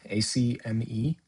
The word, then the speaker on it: Acme: Next Okay, up, we have Coyote versus, I might mispronounce this, Acme, ACME. Is that right? that is correct.